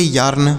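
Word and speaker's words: yarn: इसे क्या पढ़ेंगे यार्न वाई ए आर एन यार्न हो गया इस तरीके से पढ़ेंगे ए के साथ अगर आर का प्रयोग हो तो इस ए का उच्चारण आ की मात्रा के रूप में आ के रूप में करेंगे तो ये हो गया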